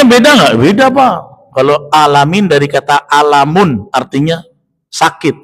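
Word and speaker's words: العالمين: Huruf ain tidak diusahakan dengan tekanan. Alhamdulillahi rabbil alamin. Harusnya kan alamin. Ya. Artinya beda nggak? Beda, Pak. Kalau alamin dari kata alamun, artinya sakit, penyakit.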